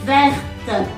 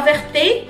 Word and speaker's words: verte: dire verte non pas verté non pas verte non pas Vert c'est vert verte donc le E ne se prononce pas alors le E ce